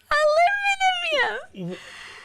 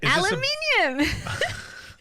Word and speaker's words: aluminium: is this aluminium aluminium did you spell it the American way or Australian way in the book aluminium no I spelled it Australia wi aluminium aluminium that is so funny I was just reading my book and I forgot how to say aluminium I was trying to say it like an American parabs bhea okay so